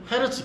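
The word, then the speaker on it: Hertz: 그리고 여러분 이거를 미국 애들이 뭐라고 한다? 지들 마음대로 트라고 하는 거예요. 헤르츠가 원래 이름이에요. 그러니까 미국식 발음이고 그냥 됐죠. 예. 그러니까 그냥 그렇게 막 막 쓰지 마시고 그러니까 헤르츠라고 불어 주시면 됩니다.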